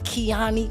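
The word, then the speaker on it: Keyone: B, my name is Keani for a reason, y'all. My name is spelled K E Y O N E. That's key one, But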